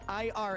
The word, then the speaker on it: IRA: Birch gold / Rumble please announce Ira as initials IRA and 401K should pre